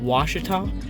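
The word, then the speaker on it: Ouachita: thought was cool was it is a it's pronounced washita and i i think there's like numbers and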